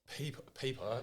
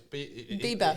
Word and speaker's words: Bieber: It's not Justin Peeper, it's Bieber. He's not pronouncing it correctly.